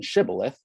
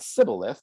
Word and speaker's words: shibboleth: words first syllable differently the gileadite rendering includes an aspirated s as in shibboleth whereas the ephraimite sybileth does not and according to judges